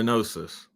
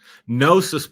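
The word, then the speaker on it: gnosis: Very similar to Nosis. Nosis, by the way, is spelled G N O S I S.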